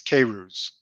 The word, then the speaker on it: Queyrouze: name crazy oh man we practiced this it's cavers that's serious we've known each other for yeah